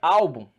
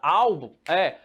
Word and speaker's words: álbum: Pergunta que não quer calar, onde está a sílaba tônica? Aqui, penúltima.